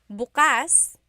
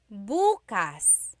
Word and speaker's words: bukas: If you say bas the emphasis is on the second syllable that means open. If you say buas emphasis is on the first syllable that means tomorrow.